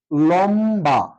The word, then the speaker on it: লম্বা: শব্দের শেষে যুক্ত আছে তো এখানে লম্বা লম বা ম টা উচ্চারিত হয়েছে বটাও উচ্চারিত হয়েছে এই হিসেবে আমরা লিখতে পারি লম লম থেমে গিয়েছি লম বা লম বা ঠিক আছে আরেকটা শব্দ নিতে